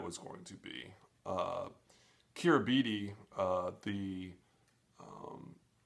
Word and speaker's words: Kiribati: going to be uh kira bidi uh the um i think it's pronounced kirbas um the islands where